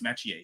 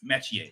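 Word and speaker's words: Metchie: I asked him, how is your last name pronounced? Because on the CFL broadcast, they call him Royce Metier. It is Metier. It is John Metier.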